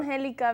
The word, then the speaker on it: Angelica: Angelica because the E has an accent mark, which makes it, you pronounce the E more, I guess.